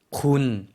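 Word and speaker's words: คุณ: 군, 네. 평성이에요. 군 하고 짧게 발음해 주시면 되겠습니다.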